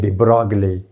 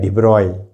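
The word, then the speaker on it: Broglie: ये फ्रेंच वगैरह में ये साइलेंट का ये मसला होता है, हम बोलते हैं डिब्रॉगले, हकीकत में क्या है? डिब्रॉय, वहाँ पे डिब्रॉगले इक्वेशन।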